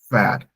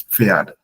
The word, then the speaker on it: Pferd: Das Pferd, like the PF Pferd.